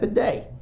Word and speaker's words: bidet: ak let me get that bidet it rhymes 8k bidet but i was like